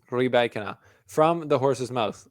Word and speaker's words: Rybakina: Djokovic Wawrinka, Andy Murray, Elena Rybakina, who I am pronouncing right. We went over this at the Australian Open. Somebody in the last video came at me for saying Rybakina wrong.